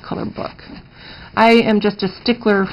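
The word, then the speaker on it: Colorbök: fyi people call it color bach but again it's pronounced color book because the accent over the o makes it pronounced like book so that's pronounced color book i am just a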